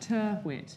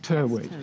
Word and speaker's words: Tyrwhitt: How do you pronounce that? Turwit. Turwit.